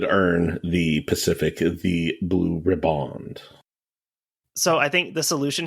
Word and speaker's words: riband: Okay, so the pronunciation I just heard from Merriam-Webster, everyone's favorite lady, Merriam-Webster, is pronounced just like the word ribbon, but just with the D pronounced on the end of it.